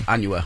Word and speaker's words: Anuel: And let me see if I even know how to pronounce this brother's name. Anuel. Did I say right? Anuel? Is that it? Yes, Okay. Anuel.